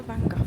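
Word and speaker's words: Van Gogh: I keep calling it Vangok, but it is Vango, isn't it? Everyone's saying Vango and I was like, I chose the wrong pronunciation.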